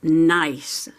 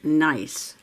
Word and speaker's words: gneiss: now these rocks are spelled g-n-e-i-s-s g-n-e-i-s-s but you say nice the g is silent nice and the interesting things